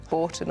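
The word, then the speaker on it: Bourton: Although I would always pronounce it Borton on the Water.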